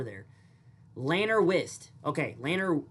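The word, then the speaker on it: Llanrwst: Lanner Wist. Okay. Lanner Lanner Wist or Lanner Vist. Uh depending on the Welsh language.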